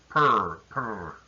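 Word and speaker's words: פר: The word pari in Hebrew, its parent root is pur. Again, you don't have to know these Hebrew letters. Just know it's a P sound and an R sound. Pur. It sounds like a cat.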